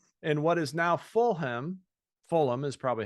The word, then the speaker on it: Fulham: the Stamford Bridge in what is now Fulham Fulham is probably how you say it adjacent to